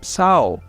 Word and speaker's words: sağ ol: And sağ ol, actually, it also has a G over there, and you don't pronounce it. You just prolong the O after the what? After the yumuşak.